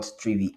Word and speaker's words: Trivy: the readme okay um 3v pronounced like three trigger V pronounced like Envy the comprehensive security scanner